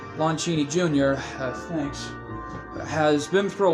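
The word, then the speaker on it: Lon Chaney: through a lot in the horror genre but Lo King Jr uh has sorry pronounced the name right Lon Cheney Jr thanks has been through a lot in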